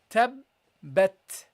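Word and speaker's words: تبت: And the second ba you connected with the ta, tabbat. Okay, tabbat. And when you pronounce the ta, guys, keep in mind that you have to give a sound at the end in which you, so basically what should happen, there should be a flow of air which comes out of your mouth.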